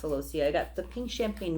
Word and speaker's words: celosia: I think it's pronounced celosia.